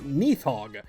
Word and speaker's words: Nidhoggr: Some sources pronounce the R at the end of it while others don't. Apparently, the proper Scandinavian pronunciation is actually closer to Nathog.